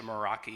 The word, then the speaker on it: Meraki: So now if for some reason, again, the county system goes down, we have a Meraki, is that how you say it? Yeah, it's a Meraki.